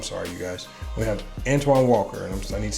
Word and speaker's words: Antoine Walker: we got antonio mcdice oh no no no antonio walker i'm sorry you guys we have antoine walker and i need to say his name correctly